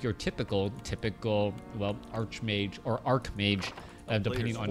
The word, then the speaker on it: archmage: both are technically illegal generally they say Ark Ark is like Ark Angel or arch or Ark bishop as opposed to what